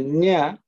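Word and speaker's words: ञ: And the fifth one is the nasal letter or consonant in the cha varga, which is pronounced as nya, nya, nya, ni, ni, nyu, nyu, nir, nir, nil, nil, nye, nyai, nyo, nyao.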